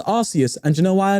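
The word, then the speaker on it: Arceus: archus AR alador what oh actually hold on archus is actually truthfully pronounced arus and you know why I know have you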